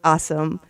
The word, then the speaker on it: Awsumb: And you guys, his last name really is Awesome. But spell it for us. Yeah, so it's actually spelled AWSUMB. So I like to say it's the phonetic spelling.